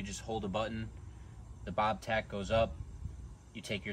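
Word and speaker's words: Bob-Tach: this machine and that is the Bob tack technically the dealer calls it the Bob tatch but I think that sounds incredibly corny and I like bobtack better so I'm going to continue to pronounce it like that until the day that I die here with the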